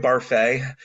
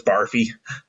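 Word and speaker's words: Barfée: barfle or what's the his name was uh William barfa which the the other characters in the show constantly mispronounce as barfy okay now was that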